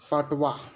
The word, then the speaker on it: patois: PATOIS की pronunciation पटवा होती है, यानी PAPATWAA।